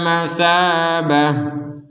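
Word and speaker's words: مثابة: akan menjadi huruf ha contoh waid ja'alnal baita matsabah misalkan kita berhenti tidak kuat nafas berhenti di sini maka huruf Ta ini menjadi huruf ha terbacanya kemudian kalau disambung maka huruf ha-nya ini sudah kembali menjadi huruf ta dan ya kalau ini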